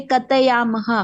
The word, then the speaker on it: कथयामः: हम्म, उत्तम पुरुष एक वचने कथयामि, उत्तम पुरुष द्विवचने कथयावः, उत्तम पुरुष बहुवचने कथयामः। त नहीं बोलना है, मध्य थ की उच्चारण करना है, थ, क त नहीं, कथ क थ। कथ कथयामः।